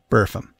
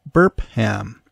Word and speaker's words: Burpham: question by the way I have been pronouncing it correctly buram just to be absolutely certain I checked with one of the workers in the village pub the George to make sure it wasn't pronounced burp ham as you may be